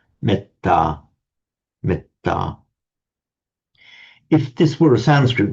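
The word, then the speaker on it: metta: So um on its own you may the a me would would be long but the e here becomes short because it's followed by a double consonant meta meta.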